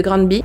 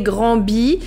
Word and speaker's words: Granby: Mon français me dirait Grand B, mais quand j'ai écouté les différentes interviews, les différents reportages, j'ai entendu Grand B. Donc je pense que c'est comme ça qui se prononce.